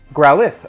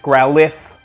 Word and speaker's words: Growlithe: of their Endeavor they grow alive sense we Growlithe okay you can tell I'm not a Pokemon